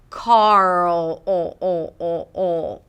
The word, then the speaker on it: Karl: word "car" - 'Kar', and then you lift the tongue up for the R - 'Kar'. Make sure the tip of the tongue doesn't touch anything: 'Kar'. And then as you pronounce the R sound, you want to create tension in the back for the dark L - 'Karl'.